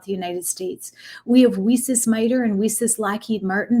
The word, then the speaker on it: WiCyS: by our acronym wiesis we spell it w-i-c-y-s and pronounce it we sis like we cyber sisters because that's exactly what